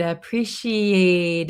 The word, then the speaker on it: appreciate: I' I'd appreciate it. Appreciate it. So, this T in appreciate is going to be a flap T. Sounds like a D.